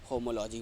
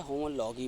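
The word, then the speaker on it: homology: यहाँ समजात अंग यानी होमोलॉजी बोलते हैं या होमोलॉगी बोलते हैं, कोई भी प्रोनाउंसिएशन आप यूज कर सकते हैं।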